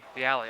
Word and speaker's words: Viale: Is that how you pronounce that last name? Viale. Viale, okay.